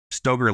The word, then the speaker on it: Stoeger: name or Ben's uh it's pronounced Steger, but Stoger like the shotgun.